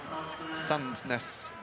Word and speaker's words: Sandnes: that sense here in Sandnes. Interestingly, I was told that if you're from the east of Norway in Oslo, you might pronounce it slightly differently. Sandnes or Sandnes, with the D almost being silent.